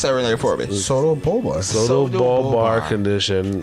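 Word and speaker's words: pseudobulbar: You could call it PBA, but it was actually called this Soto-bulbar. Soto-bulbar. Pronounce that Rene for me. Soto-bulbar. Soto-bulbar condition. Almost or sounds like Bulbasaur from Pokemon.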